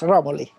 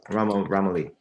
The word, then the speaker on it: Romoli: Now that I pronounced that correctly? Yes, Romoli. Romoli.